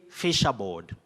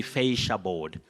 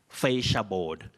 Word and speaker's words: fascia board: Anyway, you say, many people say fisherboard, fisherboard, but that is incorrect.